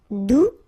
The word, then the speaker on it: doux: Doux, you don't pronounce the final X.